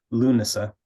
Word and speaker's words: Lughnasadh: And for me, coming from the Irish perspective, I would call it Lughnasadh, and that's Lughnasadh rather than Lughnasadh. It's just the middle syllable is like a schwa, so na, Lughnasadh.